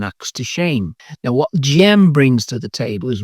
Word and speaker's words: Dżem: Pronounced Dżem, these are one of Poland's most respected and